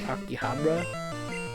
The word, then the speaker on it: Akihabara: I want to go to I think it's pronounced Akihabara, Kyoto, Nara.